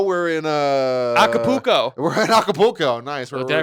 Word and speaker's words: Acapulco: We're in Acapulco. Nice. Did I pronounce that right?